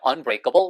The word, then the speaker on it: unbreakable: unbreakable이라고 발음하시면 좋아요. 커블이라고 잘 안 들려요. unbreakable record.